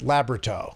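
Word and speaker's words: Labyorteaux: It's We always pronounced it Labberto.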